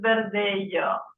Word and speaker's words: Verdelho: in Portuguese so it's Vero so the LH is like a y sound compared to the Spanish